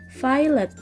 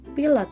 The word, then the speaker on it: pilot: itu failed ya Nah penulisannya hampir sama dengan penulisan dalam bahasa Indonesia akan tetapi dalam pelafalannya pilot itu dibaca dalam bahasa Inggris yaitu failed ya bukan pilot tapi failed baru artinya pilot kalau